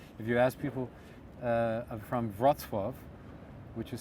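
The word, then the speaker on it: Wrocław: say good dance if you ask people from vratsworth which is spelled w-r-o-c-l-a-w uh if you ask people from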